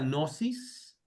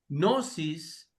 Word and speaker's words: gnosis: No pronunciamos la g.